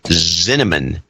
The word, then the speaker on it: Zinneman: Sir Kyle Meyer in Atlanta, Georgia, and last but not least, Jeffrey Zinneman, rhymes with cinnamon, in South Euclid, Ohio.